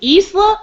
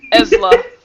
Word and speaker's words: Esla: So he's asking, is it Isla or Esla? Oh! I thought those were both double E's and he was just fucking with me. No. Esla. Esla.